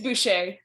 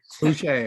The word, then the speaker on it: Boucher: It's Boucher. Boucher, okay, the French pronunciation.